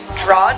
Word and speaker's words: Drawde: Drawd. Yeah. So it's actually Edwards spelled backwards.